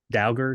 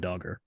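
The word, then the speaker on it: Dauger: he's ever yeah maybe dagger dagger it look it's d-a-u-g-e-r so I'm gonna go with dogger Doge he's a doge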